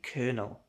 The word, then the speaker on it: colonel: Just say colonel like a military rank. Fun fact, colonel. The popcorn thing is spelled differently but sounds exactly the same.